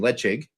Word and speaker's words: Ledaig: One is Tobermory is their unpeated spirit, and Lechig is their peated spirit. So it is spelled Ledaig.